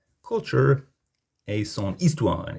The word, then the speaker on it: histoire: Histoire is actually feminine as well, but if a word starts with a silent H or a vowel, use son instead of sa, even if it's feminine. It just sounds better. Son histoire.